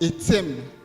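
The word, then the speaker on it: עצם: Le mot os en hébreu, c'est etzem. Etzem, il s'écrit comme vous l'entendez, E-T-S-E-M.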